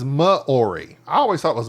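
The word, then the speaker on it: Māori: aroa is the native and he fanatically says moori I always thought it was mayori Mori poic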